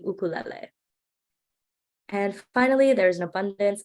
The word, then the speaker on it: ukulele: Another common mispronunciation is ukulele. It's actually ukulele.